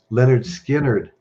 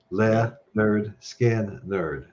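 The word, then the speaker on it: Lynyrd Skynyrd: Leonard Skinner, pronounced. Leonard Skinner.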